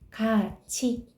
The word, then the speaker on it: 같이: 같이. 이 모음 앞에서 티귿이 치읓으로 바뀌었죠?